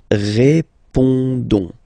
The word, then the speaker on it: répondons: Don't pronounce the final S. You only pronounce this on sound. So you get répondons.